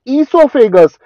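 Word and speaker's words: oesophagus: एक E stand for ईसोफेगस, O silent है सो ई से क्या आ गया, ईसोफेगस, के stand for kidneys, and criminal का सी स्टैंड फॉर कोलोन।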